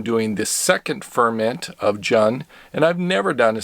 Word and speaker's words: Jun: Jun that's J UN I think it's pronounced John instead of June but I could be wrong on that just a disclaimer I